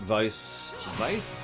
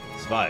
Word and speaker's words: Zwei: We just got Vice? How do you say his name? And Lorelei. Zwei, excuse me. There's no S there.